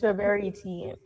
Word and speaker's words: Roberitine: I don't do well with pronouncing things You sometimes. didn't do too bad. It's Roberitine.